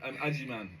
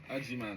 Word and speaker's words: Agyemang: Aim man. Aim man. Aim man. A man. Yeah. Aim man.